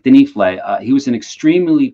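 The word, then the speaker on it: Denifle: all-time H favorites um Hinrich denle that I used to mispronounce as denile for for many years uh Hinrich denle uh he was an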